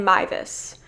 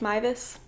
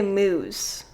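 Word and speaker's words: Meiwes: will be talking about armin mivus i believe is how it's pronounced maivus i always want to say moose harmon moose but i know that's not it that i do know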